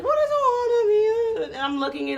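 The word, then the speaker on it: ʻOhana: Is it Ohana? Ohana. Yeah. That's how you say it, right?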